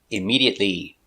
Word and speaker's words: immediately: look at the pronunciation immediately D iMed e iMed iMed T immediate stop T immediate immediately immediately immediately five syllables immediately stress on a second syllable immediately immediately immediately immediately